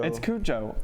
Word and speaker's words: Cujo: Is there any special way to say that? Cujo. It's Cujo, Okay.